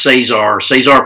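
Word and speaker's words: Cesar: Google GoFundMe and Czar's, it's spelled C-E-S-A-R. But it's pronounced Czar, but Czar's Recovery on GoFundMe.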